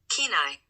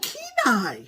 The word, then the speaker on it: Kenai: Do you want to hear how it's pronounced? Yes. Kenai. Oh, Kenai.